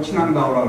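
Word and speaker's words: 秦皇岛: 중국 발음으로 친앙다오라고 그러는데, 진앙도인데 거기가 이제 백이숙제 무덤도 있고, 갈석산도 있고, 뭐 만리장성도 있다.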